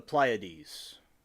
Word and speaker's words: Pleiades: And see, I'm going to pronounce this correctly because I've done it before, but I think I mispronounced it. Let's go. The Pleiades.